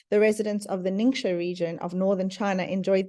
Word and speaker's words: Ningxia: ninga and talk about our ninga red drink and that is how you pronounce it it's a Chinese name ninga so our Young Living